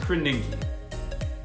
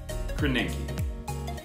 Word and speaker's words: Krasinski: It's pronounced Krasinski. Krasinski. I feel for John because Krasinski is hard to say, but also Favaretto is really hard to say too.